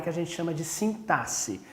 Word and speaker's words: sintaxe: a gente chama de sintaxe a gente escreve com x mas pronuncia com um som de s Ok é a sintaxe essa área da gramática